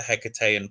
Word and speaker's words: Hekatean: So Oracle of the so this is where it gets different, because I would say Oracle of the Hekatean Path.